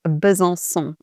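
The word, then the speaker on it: Besançon: So the city is bzon and because of the sad the little hook under the c the c is actually pronounced like an s like in other French words for example like so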